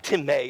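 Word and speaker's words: τιμή: well with thee it's the Greek word time Tim a is how you pronounce but it's spelled time and it literally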